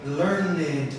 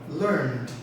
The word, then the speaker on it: learned: So in this case, the important thing to understand is that we don't add another syllable when we pronounce the final D. So for example, we don't say learned or called. No, that's a common mistake. So we say called, learned, earned, phoned, warned, informed, etc., etc. It's a very soft sound just at the end. Don't put another syllable in.